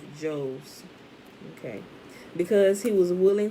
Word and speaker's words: Jose: rabbi ishmael ben jose no that's not jose it's just j o s e rabbi ishmael who was the son of joe's okay because he was